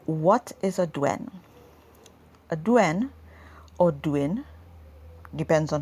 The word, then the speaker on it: douen: So today I'm going to be talking about douens.